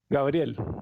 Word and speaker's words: Gabriel: How do you say it? Gabriel? Gabriel. Sí.